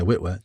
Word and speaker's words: Witwer: But if Sam Witwer, is that how you say his name? Yeah, Witwer, the guy that voices Maul, he would need to do the live action, I think.